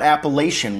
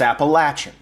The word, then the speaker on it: Appalachian: I say it right I was corrected early on that it's not Appalachian when you're done it's Appalachian so Danny I hope that